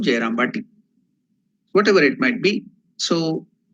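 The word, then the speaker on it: Jayrambati: So the real name of the village is Jayaramavati or Jayaramavati. But due to the improper pronunciation for the villages, it has become Jayarambati.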